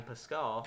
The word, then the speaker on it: Pascal: And so now, kind of continuing down the line, we have Adam Pascal.